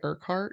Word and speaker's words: Urquhart: know how to say urkhart because it's spelled with a lot of U's because it's Elena's last name one of the co-hosts of morbid all right and she says it's like our Castle yeah so that's cool